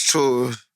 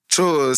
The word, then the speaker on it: Chores: His name Nick Chores, and it's Nicholas Chores, and it's spelled Chores, Curoos, Chores. I'm like, bro, how is that chores? It's like churros. It's chores, man. From Peru.